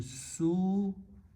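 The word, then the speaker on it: سوء: And the noun is made by combining and pronouncing su-un. Su-un means evil, bad.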